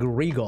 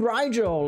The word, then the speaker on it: Rigel: did you pronounce this i used to call him like regal or some and people were like oh call him rigel like i don't know